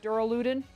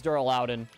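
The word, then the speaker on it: Duraludon: for a rare Mark Dural ludin and I know I'm saying it wrong I know it's Dural lden I just like saying luden tring to work on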